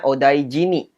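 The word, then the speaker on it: お大事に: hiragana nih di belakangnya jadi bacanya odaijini kalau sudah begini Itu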